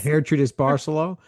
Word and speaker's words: Gertrudis Barceló: You mentioned Gertrudis, and I didn't know how to pronounce it till like 3 seconds ago, Yeah. but Yes. Gertrudis Barceló.